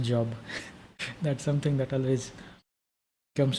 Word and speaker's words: Job: later on like it's the word is pronounced job that's something that always